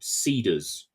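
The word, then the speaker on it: Seedrs: just like all Tech you you can't spell it the way that it sounds you have to remove vowels from it so it's s e d r s they they took out one of the three E's I don't know why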